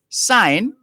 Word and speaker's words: syne: once upon a time in scots sign s-y-n-e is pronounced like the english word sign s-i-g-n burns's verse is taken